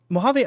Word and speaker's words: Mojave: Mojave held hello hello Mojave I don't know why but everyone gets your name wrong and your name is literally the name of like a desert so I don't know